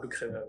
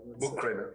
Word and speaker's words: Buchkremer: It's like H is silent, as I always say. Like so, you say Buchkremer. Buchkremer.